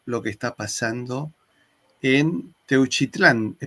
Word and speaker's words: Teuchitlán: que está pasando en Teuchitlán. Decime si lo pronuncié bien. Techitlán, correcto.